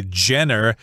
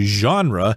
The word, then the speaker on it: genre: so here we've got the word genre which has a unique pronunciation in English mainly because this word comes from French so don't say Jenner that's wrong you would say genre which means a different